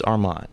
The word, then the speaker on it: Armond: Almond, what's up Almond? Okay. So yeah, Armond is the usual like mispronunciation, but it's Armond.